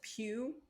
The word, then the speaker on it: Pew: because he doesn't he doesn't know how to pronounce it i guess yeah so he calls er he doesn't know it's pew so he's like oh you're watching pewdiepie again